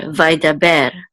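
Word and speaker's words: וַיְדַבֵּר: So vai, and then the dalid with the patak says da, vai da. And this is a bet with tsere, which says be, and this is a resh, which says, and this goes with this syllable right here, so it's ber, vaidaber.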